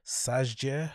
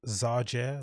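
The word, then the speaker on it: Szájer: pronounced his name joseph let's say sajjia yes i'm assuming the s is silence zarger zarjay said in a statement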